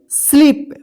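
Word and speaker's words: sleep: स्लीप।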